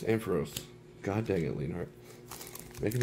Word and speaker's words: Ampharos: pikachu kind of can't move the cards and pharaohs ampharos god dang it leonard making me say it